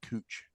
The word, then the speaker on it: Couch: it versus couching it, we have a street in downtown Portland called Cooch Street, which is just literally spelled Couch Street, but everybody knows to call it Cooch.